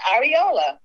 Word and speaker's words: areola: what it was right away she said it's Ariola Nana we all know what it is we just wanted to see how you pronounced it I'm sorry oh she said oh